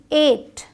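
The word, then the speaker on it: eight: अब यहाँ आते हैं EIGST, एट, EIGST 8, यहाँ GH साइलेंट है आपका।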